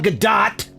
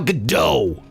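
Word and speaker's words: Gadot: It is Gail Gdat, not Gail GDO.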